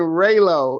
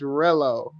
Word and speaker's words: Relo: You've been saying Raylo and it's Rello.